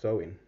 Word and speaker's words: Samhain: ancient Celtic Festival of Sam ha right oh pronounced sewing all right the Kelts